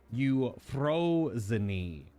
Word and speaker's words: Euphrosyne: on the actual pronunciation everything in here is Greek so very specific every vowel is combined with the the consonants so it should be